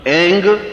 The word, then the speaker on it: ऐं: उस ऐं ह्रीं क्लीं, देखिए अब आपकी इसकी उच्चारण ध्वनि, एंग, रींग, क्लींग। मैं ग की ध्वनि के साथ उसकी बात बता रहा हूं।